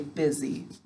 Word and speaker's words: busy: Good, so to spell it, we say buzzy. When we're speaking, we say busy.